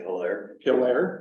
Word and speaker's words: Hilaire: Hilaire, Minnesota. Is that how you say Hilaire. Hilaire, okay. I'm not even from, I don't. French isn't very good. Yeah, I guess not. Hilaire.